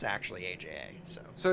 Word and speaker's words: AJA: it kpro it's actually kpro and it's actually Aja so so it's like K proquo kpro quo